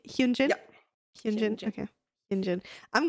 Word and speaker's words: Hyunjin: Do I pronounce it correctly? Hyunjin?